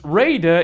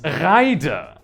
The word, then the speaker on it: Raider: these candy bars no this is not pronounced Raider it's Rider and it does in fact